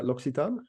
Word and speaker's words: L'Occitane: that pretty close Michael I think that's okay it's a global run now but if you want to put us in French maybe it's loxitan I suppose okay um